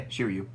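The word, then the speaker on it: Shiryu: exciting card Story Time with rert next is shiru is that how you say his name yeah shiru there a three drop 4K 2K counter Dawn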